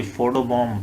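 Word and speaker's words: photobomb: हैं जनाब लेची जी फटो बम पहला लफ्ज आ गया हमारा आखरी बी साइलेंट है फोटो बम बस काफी है इतना बी को पढ़ने की जरूरत नहीं है फोटो बम ऐसे कहने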